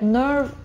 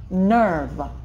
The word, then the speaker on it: nerve: Все ли говорят nerve, nerve? Звук опять как term. ER под ударением дают странный звук «э», nerve. Потренируйтесь, если плохо получается, как будто «э», nerve, nerve, достаточно говорить.